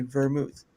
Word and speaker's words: vermouth: It was just the way the word sounded and I was like, "Okay, vermouth. it doesn't sound the way it's spelled.